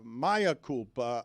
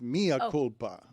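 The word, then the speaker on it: mea culpa: Uh, I don't think it's uh Maya Koopa. I think it's Mia Kulpa. Oh yeah, Mia. It's actually Latin, not Spanish.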